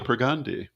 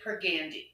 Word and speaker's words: Pergandi: Um, I'm grateful to Pergandi. Thank you. And am I pronouncing that correctly? It's actually Pergandi. It's Per- a long A.